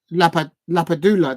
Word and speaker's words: Lapadula: Lapadula.